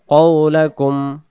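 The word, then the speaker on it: قولكم: ওয়া আসিররু কওলাকুম কুম, এখানে গুণা হবে না, কওলাকুম।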